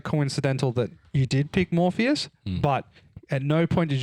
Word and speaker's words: Morpheus: Um, you were constantly saying MorbiiUS instead of Morpheus.